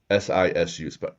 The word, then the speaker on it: sisu: SISU, pronounced sisu.